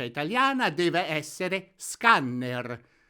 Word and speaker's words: scanner: Quindi mi raccomando, la pronuncia italiana deve essere scanner. Ricordatevi di fare sentire bene la doppia N.